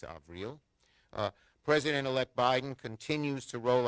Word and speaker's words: Avril: to tony blinken and april avril haynes she corrected my pronunciation it's avril president-elect biden continues to